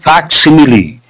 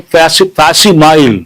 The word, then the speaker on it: facsimile: And there's one word, facsimile. People mispronounce, people say facsimile. No, facsimile. Facsimile means same copy of something.